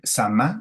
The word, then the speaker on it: samá: otra es esta eh samá, ¿no? Se pronuncia así, que es la esta ceremonia de la danza giratoria.